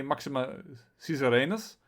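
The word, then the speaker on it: Maxima Caesariensis: to stop it here i know that some people pronounce as kaiser i am used to pronounce the caesar so i'm going to say maxima cesarenas if you pronounce it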